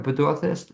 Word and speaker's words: Pedorthist: He's also, correct me if I have the pronunciation right, a Pedorthist.